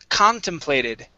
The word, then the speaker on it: contemplated: All right, let's go to, okay, contemplated. Okay, stress at the very beginning.